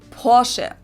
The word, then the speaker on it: Porsche: In German, we say Porsche. So there's like this short E sound in the end.